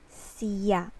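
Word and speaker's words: siya: one s y a or in a formal setting we put i it's like ya see ya this is the formal and this one is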